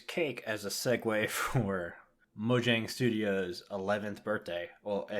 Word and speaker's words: Mojang: they're no longer just Mojang and we found out it is mojang so I've been saying it wrong for forever mm-hmm so they're